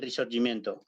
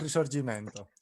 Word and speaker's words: Risorgimento: Le llaman el Giro del Risorgimento. Capri, tú me corregirás la pronunciación. Más o menos está bien. El Giro del Risorgimento.